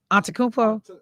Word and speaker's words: Antetokounmpo: Antetokounmpo?